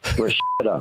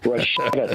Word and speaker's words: Rashida: Rashida. Remember, pronounce it correctly, Eric. Rashida. Rashetta to leave.